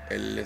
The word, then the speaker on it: elles: Non, c'est elles. Elles.